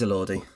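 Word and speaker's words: Elordi: his name um what's the song it is a Lordi he said good day I'm J Jacob AI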